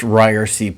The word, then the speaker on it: Ryerse: This is the It's Pronounced Ryerson podcast.